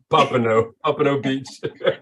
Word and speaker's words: Pompano Beach: Pompano Beach.